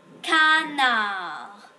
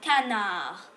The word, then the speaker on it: canard: fmu elle aussi le canard cana ya des muets alors on ne le pense pas car c'est pas la canarde c'est le canard on prononce pas le d ça s'appelle un d